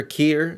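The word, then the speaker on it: Keir: This is two-tier Kier Starmer. As the guys at Lotus Theater pointed out, the fact that his name is Kier, he has a lot of things that rhymes that his name rhymes with, and you can make funny names for him.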